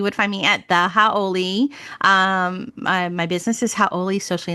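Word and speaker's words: hauʻoli: So Howley is actually like a foreigner, and Howy is happy and happy.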